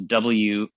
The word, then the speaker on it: WAFTB: It's WAFTB. So you can think of it as waft, and the B is silent, right?